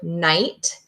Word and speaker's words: night: hear in the word night hmm gonna sound out nnn I hear the N I hear the I and then I just hear the T hey that gh is silent that's a silent consonant